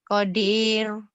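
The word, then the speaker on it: قدير: Tipis. Kenapa? Karena sebelum ro dimatikan ada huruf ya mati. Qadir. Masa Qadir? Qadir. Qadir. Qadir. Tipis atuh Qadir. Kenapa? Karena sebelum ro mati, ro-nya kan dimatikan dibacanya. Kalau Qadirun tebel gitu.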